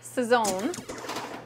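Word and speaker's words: Sazón: Sazon, I've always pronounced that a little weird. Swirls has to correct me. I think I inflected it on the wrong syllable. Sazon.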